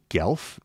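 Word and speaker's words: Guelph: at the University of gelf and that's spelled g-u-e-l-p-h I'm not familiar with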